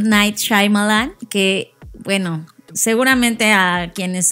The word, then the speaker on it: Shyamalan: Yo ya vi cómo él se presentó a sí mismo y es Shyamalan.